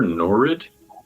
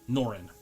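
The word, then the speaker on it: Norrin: Calder Norid. Norin. How do you spell that?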